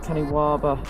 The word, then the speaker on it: Kaniwaba: So this is the Kaniwaba, I believe it's pronounced, Kaniwaba pedal conversion kit.